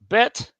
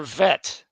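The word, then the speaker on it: ב: Bet or vet. That little dot in the middle will differentiate between a hard sound or a soft sound at the beginning. So bet or vet, b, or ve, or b or v.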